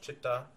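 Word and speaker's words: चित्त: And Chittakosh, Chitta, see, even though they spell it C-H-I-D-A or C-H-I-D, it's the same as C-I-T-T-A.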